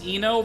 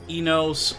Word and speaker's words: Eno: how's my name pronounced it's Eno but I'll also accept Eno Enos or I know like just so long as you get like the letters right I'm completely fine with